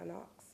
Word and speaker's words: Knox: than it did awesome my name is Knox spell it spell it for it's b r e